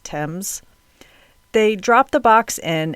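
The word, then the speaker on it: Thames: river in England and I hope I pronounced it right or you all are going to comfort me about it it's spelled t h mes but I believe it's pronounced Tims they drop the Box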